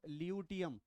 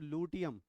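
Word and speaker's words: luteum: ये दूसरी स्पेलिंग है जिसमें हम गड़बड़ करते हैं, this is wrong, it इज नॉट ल्यूटियम, इट इज लूटियम।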